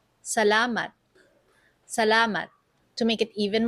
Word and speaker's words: salamat: Let's slow it down for pronunciation practice. Salat. Salat.